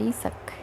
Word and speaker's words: Isaac: And he said Isak. So then I realized that is how you say Isaac in Tamil, and my face just lit up.